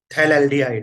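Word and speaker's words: phthalaldehyde: इसका common name है थैलेल्डिहाइड, है ना। PS साइलेंट रहता है ना।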